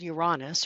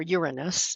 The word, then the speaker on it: Uranus: So there's a planet called Uranus or Uranus. It just depends on how people want to pronounce it.